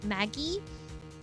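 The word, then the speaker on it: Maggey: Hard G. Oh, so it is ma Maggie.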